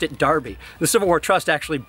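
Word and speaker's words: Enroughty: Probably the most famous example of a really weirdly pronounced name is how the name E-N-R-O-U-G-H-T-Y in Rufty is actually pronounced Darby.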